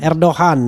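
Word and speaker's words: Erdoğan: Presiden Republik Turki ya, Recep Tayyip Erdogan, gimana bacanya? Erdogan ya, Recep Tayyip Erdogan.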